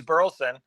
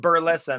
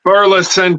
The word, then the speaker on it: Burleson: the last name yeah yeah burlson is perfect Burleson if you're if you're around my dad but burlson if you're you know if you're in a hurry and I I use burlson you know just I'm introducing myself but then